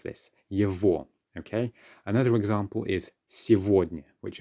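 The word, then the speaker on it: его: is just a matter of the way we pronounce this yevo okay another example is which of course means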